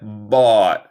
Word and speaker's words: bought: Y deletreamos muy extraño. Pero pronuncia bought.